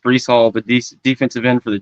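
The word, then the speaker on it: Breece Hall: I believe it's pronounced Brees Hall, the defensive end for the Jets.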